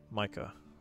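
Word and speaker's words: Maike: Yep, Micah.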